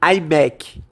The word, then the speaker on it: iMac: Uma das caixas que ele está carregando é de um iMac. I tem a mesma pronúncia de eye, que é olho em inglês.